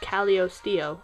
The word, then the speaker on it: Calisteo: I just realized it was pronounced Calisteo, and I've been pronouncing it wrong.